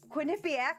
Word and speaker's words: Quinnipiac: played four years at Quinnipiac I had to write that out phonetically because if you see that it's not nice not you know she's